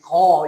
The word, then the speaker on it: 車: 그의 아버지인 안노가 청자지 거, 이걸 거를 읽어야 되겠죠. 어떤 대부분은 차라고 읽는데 옛날에는 이 차가 오토메이션 확실하게 차가 없었죠. 그냥 수레 거죠.